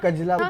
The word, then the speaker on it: कजला: ये कलजा नहीं है। मैं आपको कजला कजला बोलते हैं।